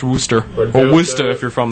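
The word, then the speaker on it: Worcester: Oh, but it's pronounced Worster.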